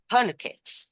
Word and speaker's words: tourniquet: Tourniquet. This pronunciation, this IPA is British, okay? It's tourniquet. It's because it's British, but American people can say tourniquet.